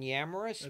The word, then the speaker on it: Yamrus: Amazon under books and search my name yamaris y a m r u I'll spell it because nobody ever gets it right it's